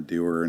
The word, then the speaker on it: Dougher: there because i'm a doer not a hearer so and it's the way you pronounce my last name doer and so it's doer